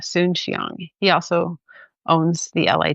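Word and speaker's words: Soon-Shiong: So, his last name is spelled Soon dash Shion, Soon Shiong.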